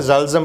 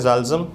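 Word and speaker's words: Psalm: ये जबूर आई थी इस जबूर को इंग्लिश में कहते हैं पी साइलेंट इसमें जालम पढ़ते हैं इस प साइलेंट है इसमें इसको पढ़ते हैं जालम और यह बेसिकली जो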